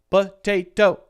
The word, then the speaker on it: potato: three syllable word and the second one is stressed the second syllable T is stressed the first one is totally unstressed and so it has the schwas sound and then the last one is kind of neutral it's not stressed it's